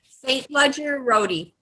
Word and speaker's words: St. Ledger-Roty: how do you pronounce it? St. Ledger-Roty? St. Ledger-Roty.